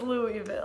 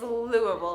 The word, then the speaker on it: Louisville: in prams parfaits wrong I can see how I could think it was Louisville its Louisville now I know you have to say it like you put a bunch of rocks in your mouth and say huh right